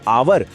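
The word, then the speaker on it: hour: दूसरी तरफ आवर शुरू तो एच से होता है पर एच इसमें साइलेंट है और आवाज आ की आती है जो एक स्वर यानी वोवेल साउंड है।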